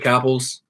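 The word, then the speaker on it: Capels: Capples, rhymes with apples, but it's spelled ELS.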